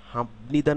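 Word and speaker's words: 합니다: পরিবর্তিত হয়ে ম এর মত উচ্চারিত হবে যখন হামনিদা না হয়ে হামনিদা হবে হামনিদা না হয়ে হামনিদা হবে এই নিয়মটিকে বলা হয় নাজালাইজেশন নাজালাইজেশন নাজালাইজেশন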